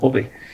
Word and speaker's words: Ove: Estaba ahorita ahí revisando que se llama, es una película sueca, se llama Mi nombre es Ove, se escribe Ove, ¿no? Como si dijéramos huevo en latín, ¿no? Ove, que creo que le va a hacer Tom Hanks.